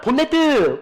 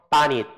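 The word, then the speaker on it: bonnet: 못 알아들어 니온 사인 자동차 앞에 본닛 있잖아 보네드 그럼 못다 들어 바닛 바이라 해야지 알아들어 감이 오지 여러분들이 추측해서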